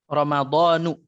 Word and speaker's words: Ramadhanu: Ramadhanu. Dia Ramadan. mamnu' minas sarf. Dia tidak boleh bertanwin, maka Ramadhanu.